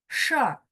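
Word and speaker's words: 事儿: 事儿, bacanya langsung R-nya digabung sama SHI ya.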